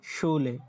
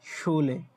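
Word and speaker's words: Schule: এই যে দেখেন শুলে, শুলে, হ্যাঁ, শুলে মানে স্কুল, যখন এস সে হা একত্রে থাকবে তখন আপনার উচ্চারণটা আসবে তালবাস্যর মতো, এরকম আসবে, শুলে মানে স্কুল।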